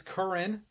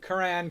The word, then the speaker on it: Curran: you're good it's it's current current okay current is right there I've had it Koran korane current is how we pronounce it I don't know how